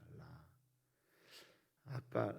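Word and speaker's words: רָאָה: 라. 아까 라 이거는 악과 재앙에 쓰이고 지금 라아라고 하는 좀 길게 발음하는 보다, 살피다, 여기에서 선견자가 나오거든요.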